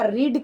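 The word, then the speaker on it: read: नहीं पड़ेगा you have रीड लेकिन कुछ उच्चारण में प्रभाव पड़ है है ना उच्चारण में तो प्रभाव पड़ता ही है यू हैव रिड अब इसके बाद यदि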